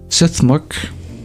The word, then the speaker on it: STH.MRK: Suthmurk, which is how I pronounce STH.MRK.